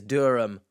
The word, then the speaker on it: Durham: h right now but there's no need for the H in Durham it's is Durham so accents and pronounciations